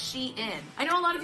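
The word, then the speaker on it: Shein: Today we're going to be testing the iconic brand called Shien, which they finally tweeted out the other day that it is pronounced sheen.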